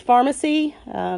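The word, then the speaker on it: Farmasi: call the company pharmacy it is pronounced pharmacy just spelled with an F and the third generation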